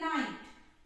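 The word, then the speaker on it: night: और जीएच यहाँ पे हमेशा साइलेंट रहता है, जब भी जीएच आई के बाद आएगा साइलेंट रहेगा। और टी हमेशा साउंड, इसका साउंड प्रोनाउंसिएशन किया जाएगा, प्रोनाउंस होगा टी। तो यहाँ पे एन आई, ये हो गया नाई और ये हो गया टी, तो टी का ट, तो इसको हम क्या पढ़ेंगे? नाइट।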